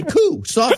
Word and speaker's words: coup: juku you guys know it's a silent P I've been saying Jew is a coup no pee-yew continues and